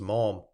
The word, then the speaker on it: Malham: But I got safe over it, so there's an end, and came to Malham, pronounced Maum, a village in the bosom of the mountains, seated in a wild and dreary valley.